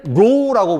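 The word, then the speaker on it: ρ: 읽을 때는 로우라고 부릅니다. 제가 예전에 한번 요거 시그마라고 잘못 얘기한 적이 있던 것 같은데, 오메가 기호인데 시그마라고 잘못 얘기한 것 같은데, 어쨌든 이건 로우라고 읽어요.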